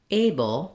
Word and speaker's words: able: everyday speech so firstly looking at the word able we have first syllable stress and the a uh letter A says its name so it is a tense a in American Engish that's a dip thong meaning you Glide from